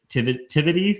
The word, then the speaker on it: Tivity: Coupled with her personal roots in hospitality, her father owned a premier catering catering enterprise in Dallas, Emmy built Tivity Tivity Am I pronouncing that right?